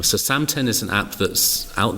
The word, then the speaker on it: Samten: I've got a mindfulness app that's called Samten. Samten. Can we spell that?